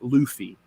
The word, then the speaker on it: Luffy: heard this jeff but the main character of one piece's name is pronounced luffy oh well then if